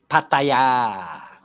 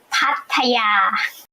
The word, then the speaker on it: Pattaya: How do you say that now, Phil? Pattaya. Let's do a quick check. Pattaya. Exactly. Perfect. That's right on, Phil.